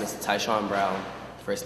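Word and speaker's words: Tyshaun: your name can he say his whole name spell it oh my name is taon brown first name t y s h a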